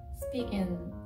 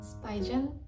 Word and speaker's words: Spigen: SPIGEN, 스피겐, 스파이젠? 발음을 확실히는 모르겠어요. 한국 회사인데 슈피겐이라고 부르더라고요.